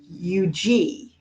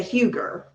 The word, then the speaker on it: Huger: referenced this also um Mrs Josephine Eugene right yes which of course my brain wants to say Huger exactly right and I